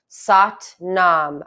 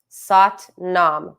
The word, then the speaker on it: Sat Nam: So we're splitting it into 4 syllables. And to give you something tactile, meaning touch, to focus on, each syllable will be each finger. Thumb to index, thumb to middle, thumb to ring, thumb to pinky, while you say the 4 syllables sa, ta, na, ma.